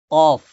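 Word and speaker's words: قاف: পরবর্তী আলোচনা আছে এরপরে কফ কফ গলার ভিতর থেকে কফ কফ গলার আগ থেকে মানে জিহ্বার একদম গোড়া থেকে জিহ্বার গোড়া থেকে উচ্চারণ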